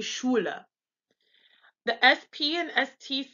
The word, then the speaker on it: Schule: The SCH sound is pronounced actually like sh, like in shit. Normally, when we see the SCH, we pronounce it like SK, like school or schedule. But when they have an SCH, it's pronounced like sh. So this would be Schule.